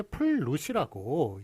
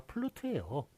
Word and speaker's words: 플루트: 그거 이제 이게 플룻이라고 여러분들이 많이 알고 있습니다. 그런데 이거 사전 찾아보시면 플룻이 아니라 플루트예요. 왜냐하면 요게 요 우가 장음입니다.